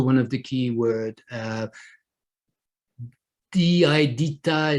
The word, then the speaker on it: DITA: la traduction du contenu DITA en contexte. DITA is also one of the key words. DITA is quite difficult to pronounce, and it would not be pronounced as an acronym.